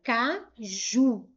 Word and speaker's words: caju: Se eu for separar em sílabas, eu tenho caju. A última sílaba foi a sílaba mais forte. Essa palavra ela é uma oxítona.